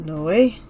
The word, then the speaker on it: Noé: bad with symbols but i looked it up and from my understanding his name is pronounced no way and so yeah but